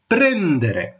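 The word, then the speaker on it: prendere: அடுத்தது பாத்தீங்கன்னு சொல்லிச்சுன்னா கொஞ்சம் வித்தியாசத்தோட பிரேந்தரே. பிரேந்தரே அதாவது RE என்னெல்லாம் வட்டிவா உச்சரிக்கணும் இத்தாலியில.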